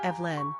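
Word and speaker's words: Eibhlín: have also borrowed Evelyn from the Irish iblin pronounced Evelyn which is the Gaelic rendering of the old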